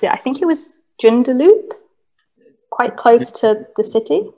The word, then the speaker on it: Joondalup: I probably won't be able to pronounce it. I think it was Joondalup. quite close to the city. Jundalu, yeah, there is one.